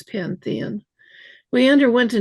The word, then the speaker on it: Panthean: People always want to spell it Pantheon, but it's not. It's Pantheon.